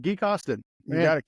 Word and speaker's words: Gui Costin: Gui, Gui, I say it right, Gui Costin. You got it, Gui Costin.